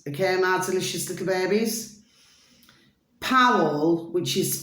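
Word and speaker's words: Pawel: Powell, which is spelled P-A-W-E-L, Wargan, W-A-R-G-A-N, at Powell Wargan.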